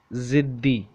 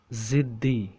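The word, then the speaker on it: ضدی: Stubborn, how to say in Urdu, ziddi, Z I D D I, ziddi, ziddi, ziddi, ziddi, ziddi. Okay, so how to say in original Urdu? Let me read the alphabets. Dod, dal, choti ye, ziddi, ziddi, ziddi, ziddi.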